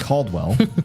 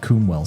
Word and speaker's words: Caldwell: of Clyde Clyde I'm tried to say it right this time Clyde Caldwell but I've called him Clyde kwell so many times that it's just in my muscle memory now my ex is